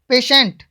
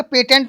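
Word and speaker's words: patient: पेशेंट है, क्या बोलेंगे, पेटेंट नहीं बोलेंगे, बहुत से हैं ऐसे जो उसको पेटेंट ही बोलते हैं, बहुत देखते हैं पेटेंट, बच्चे भी पेटेंट बोलते हैं, पर पेटेंट नहीं बोलना है।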